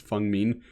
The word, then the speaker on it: Feng Min: I know very little about it, but apparently her name is pronounced Feng Min.